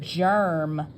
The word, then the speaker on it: germ: that's right J but this is a special word we're going to use a soft G J er er that's right we have a e r and we know that g is soft when it's followed by e or i j germ cover